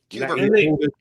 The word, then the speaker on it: Cuba: Eisenhower, announces that American reconnaissance planes have discovered Soviet nuclear weapons in Cuba. Cuber. Gotta say it right, Cuber. Sorry, what did I say? No, that's how Kennedy said it, Cuber.